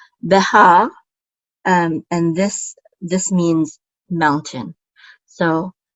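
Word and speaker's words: בְּהַר: So we say ha, Behar, and this means mountain.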